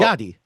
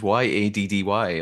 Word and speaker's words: Yachty: Oh, like a yacht. Yachty. Yeah, Lil Yachty. See, your accent made me think it was Yaddy, like Yaddy.